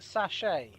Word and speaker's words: sachet: It's pronounced sachet because it's a French word.